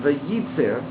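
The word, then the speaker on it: וייצר: The word is pronounced vayitzer, and it has that extra yud in order to emphasize that.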